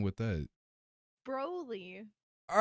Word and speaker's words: Broly: is Broly the correct, pronunciation? Yes. Oh dear Lord.